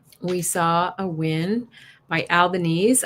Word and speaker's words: Albanese: We saw a win by Albanese. I figured out how to say it, not Albanese. Albanese kept his seat.